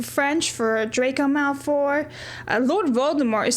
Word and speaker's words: Voldemort: for Draco Malfur, Lord Voldemort is spelled the same, but it's Lord Voldemort. You don't really pronounce the T at the end of it.